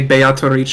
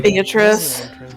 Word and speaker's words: Beatrice: it is they use like they say Beatrice in that instead of like how you would normally? Beatrice. Yeah, instead of the normal. I thought it was just like the normal, Oh. like Italian pronunciation.